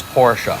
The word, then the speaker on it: Porsche: this it's just like Porsche the company is porsa now there are going to be people in